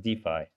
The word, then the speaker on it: DeFi: it every time now told should be pronounced defy so I don't know I was going to start saying Duffy I kind of think